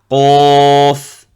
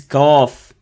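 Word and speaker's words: ق: Qaf. Qaf. Donc la lettre qaf est une lettre grave. Faites attention ne pas mélanger avec le kef. Beaucoup ils le prononcent le kef, ils disent kaf. Donc non.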